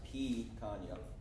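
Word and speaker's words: picanha: So we did the pecan, which is actually pronounced pecan. I didn't know that. So pea, yeah, like pea.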